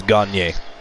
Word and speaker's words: Gagne: Gagne is a French name. Gagne actually means to win, but that's how you pronounce it, is Gagne.